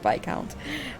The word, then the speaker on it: Viscount: Yes, I think it's I'm pretty sure you pronounce it Viscount.